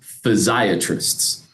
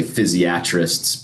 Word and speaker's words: physiatrist: And we are thus sometimes referred to as physiatrists, which there's some debate how you pronounce it. Some people say physiatrists, but that doesn't roll off the tongue as well for me. So I still say physiatrist.